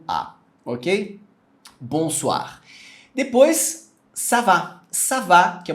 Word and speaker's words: bonsoir: aqui na tela mas o mais importante é você pegar a pronúncia bom suar é é bom suar literalmente o oi no francês ele equivale ao u a OK bonsoir depois savá savá que